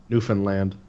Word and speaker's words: Newfoundland: she was a kid, Newfoundland. Yeah, you gotta fucking say it like that for you.